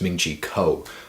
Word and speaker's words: Ming-Chi Kuo: about the iphone 7 a man pronounce his name wrong again it's ming-chi kuo alright so very first thing he's saying about